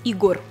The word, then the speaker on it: Егор: поклонников этого имени правда на французском она звучит немножко иначе егор без мягкого знака с ударением на последний слог саша так называют исключительно